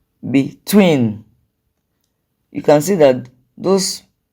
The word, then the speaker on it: between: And the next one is between, between. You can see that those syllables in capital letters are stressed.